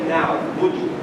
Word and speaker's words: نعبد: Just one thing, إياك نعبد, short vowel. Okay? That's another very common, nothing to do with you as well, but it's just a very common thing. إياك نعبد وإياك نستعين. Don't pull it.